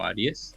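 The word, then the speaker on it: Ariès: Pero hay un historiador que se dedica precisamente al tiempo, a hablar del tiempo, es Philippe Agui, o Aries, como se pronuncia, que él lo que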